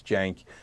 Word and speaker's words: Cenk: problem on the name it's a hard name it's spelled with a C and it's pronounced as jayson's jank so don't sweat that